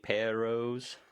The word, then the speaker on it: perros: You got to roll your R's. That's what I did. Perros. There you go. Yeah, that's good. How many times do you make the R sound? Because there's only 2 R's. Twice. Perros.